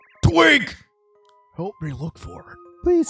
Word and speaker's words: Twink: twig but i mean you're pronouncing it like tweak this pronounced twink twunk cool great